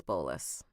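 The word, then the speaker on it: bolas: And it's bolus. It's spelled like bola, but it's bolus.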